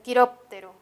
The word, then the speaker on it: quiróptero: está la penúltima sílaba otra palabra podría ser quiróptero quiróptero qué significa murciélago quiróptero tiene la mayor fuerza de voz en la anterior a la penúltima o la antepenúltima quirópteros tenemos la palabra